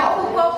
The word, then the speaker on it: Foucault: Sino que lo escribe así, pero se pronuncia Foucault porque es una vaina francesa. ¿Cómo es, compañero? Foucault. Foucault.